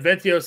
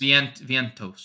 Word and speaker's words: Vientos: Okay, and then Ventios is mint price again. Yep, only because of salary, not because of the matchup. How do you say his name? Ventios? Vientos? Vientos.